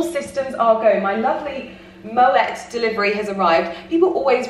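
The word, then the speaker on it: Moët: moe or is it moet and they confirmed that even though um obviously champagne is in france i believe it's actually a swiss brand so um you do pronounce the t you are within your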